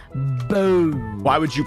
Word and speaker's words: Ranboo: Bamboo. Ranboo. Why would you pronounce my name in a different way?